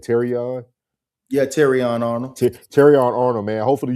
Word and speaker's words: Terrion: Yeah, Terrion Arnold.